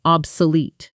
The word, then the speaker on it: obsolete: That image, that sense of something left behind by progress, that's obsolete. Shadow it. Obsolete. Obsolete. stress on the last syllable.